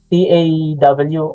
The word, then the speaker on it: Tav: Sa mga books, taw, T-A-W ang nakasulat dyan, no? Pero ang pronunciation talaga doon ay taw. Tuwing makakita kayo ng W sa Hebrew, papatigasin natin to magiging letter V or vow.